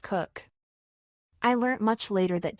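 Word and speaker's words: Coke: he introduced himself as David kooch pronounced cook I learned much later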